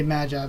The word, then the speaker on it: Magi: of the story and Maji or Magi Maggie but I would say Magi because that's how you pronounce it I mean in English but whatever but the